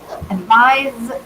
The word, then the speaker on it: advise: Advise is pronounced with the Z, which is not sibilant.